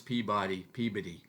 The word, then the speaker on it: Peabody: In New England, we pronounce Peabody. And I think we get that from Massachusetts. So I'm not from Massachusetts, but I am nearby.